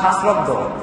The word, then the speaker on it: শাস্ত্রজ্ঞ: আবার দেখেন শাস্ত্র অজ্ঞ, উচ্চারণ আলাদা করেন। আমি শাস্ত্র অজ্ঞ, না শাস্ত্রজ্ঞ? কি মনে হয়?